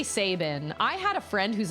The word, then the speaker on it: Sabin: I will pronounce it Sabin because, like I said, I have a friend with that same last name and she pronounced it Sabin.